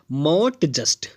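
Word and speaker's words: mot juste: हमारा जो अगला टर्म है वो है मॉट जस्ट, MOT मॉट, पढ़ेंगे मॉट जस्ट।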